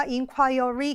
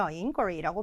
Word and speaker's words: inquiry: 그렇다고 inquire에다가 y만 붙였으니까 inquiry 개겠지. 이런 식으로 생각하고 대충 발음하고 넘어가시면 안 되는 거죠. inquy라고 발음이 됩니다.